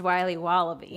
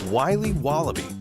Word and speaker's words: Wiley Wallaby: will be wobba beans pronounced Wiley wallaby well it's very good it's called Wiley wallaby and it's delicious all